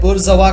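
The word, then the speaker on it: bourgeois: इसे हम प्रोनाउंसिएशन जो है बुर्जवा कहते हैं, बुर्जवा क्लासेस।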